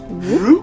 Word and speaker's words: Roop: Also, I mean, Jeremy Root. His luscious locks. Oh, what did you say his name was? Jeremy. Jeremy Roop. Roop? Jeremy Roop. Roop. R-O-O-P.